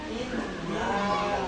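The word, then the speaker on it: إِنَّا: Inna di sini ada nun kemudian ada tanda tasdid. I in cara bacanya ditahan.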